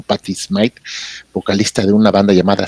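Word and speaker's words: Patty Smyth: Ya ves que sonaba incluso una chica, sonaba esta chica que se llama Patty Smite, que no se debe confundir con Patty Smith, esta la pronunciaban como Patty Smite, vocalista de una banda llamada Scandal.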